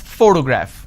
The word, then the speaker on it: photograph: has three syllables and I pronounce this as photograph which means I'm stressing on the first syllable but when I look